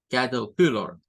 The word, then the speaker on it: caterpillar: La R no suena, de hecho, en esta concepción de esta primera pronunciación.